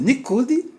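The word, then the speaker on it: ניקוד: Isso aqui em hebraico é chamado de pontos, é chamado nikud. Mas como são pontos, então se pronuncia Nikudot, mas aqui é Nikud.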